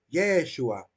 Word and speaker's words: Yeshua: Solamente pronuncia la primera sílaba y la última, Yeshua, dejando oculta, ¿verdad? El Yehó, ¿verdad?